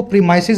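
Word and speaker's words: premises: प्रेमिस का अगर प्रेमिसिस बनाएंगे, जिसको प्रीमाइसिस बोलते हैं, सही प्रोनाउंसिएशन है।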